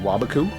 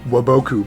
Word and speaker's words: Waboku: is negate attack and wabaku or some people like to pronounce it waboku but that's wrong you can play draining